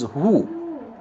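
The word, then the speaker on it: هو: The pronoun of God, Allah, in Arabic is who, pronounced exactly the same way that the owl utters its remembrance of the divine name.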